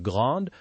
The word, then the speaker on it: grande: Just remember to make the S in grande sound like a Z when you link it to écran.